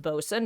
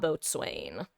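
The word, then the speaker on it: boatswain: By the way, for those who don't know, it's pronounced Bosen, not Boat Swain.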